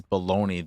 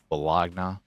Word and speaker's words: bologna: Even though it's there and it's the way it's spelled, it's just like baloney. No one says baloney the way it's spelled. I don't think it's supposed to be pronounced that way either. Bologna.